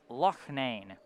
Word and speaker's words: Loane: It's not Lon, it's uh Loane.